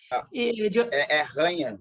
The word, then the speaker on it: Janha: Ranha, né? Ranha. Porque o J em espanhol vira...